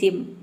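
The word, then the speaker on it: gym: Rule number 4 है, यदि 2 consonant के बीच में वाई हो तो वाई को हम ई प्रोनाउंस करते हैं, जैसे जिम।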